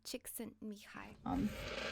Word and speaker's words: Csikszentmihalyi: Csikszentmihalyi. I'm sorry I butchered your name. I will look it up and try again. So apparently it's Mihai Csikszentmihalyi. When I edit it.